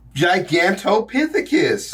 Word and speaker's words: Gigantopithecus: Gigantopithecus.